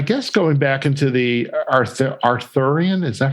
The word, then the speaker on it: Arthurian: And I guess going back into the Arthurian, is that how you pronounce it? Legends? Yes, Arthurian.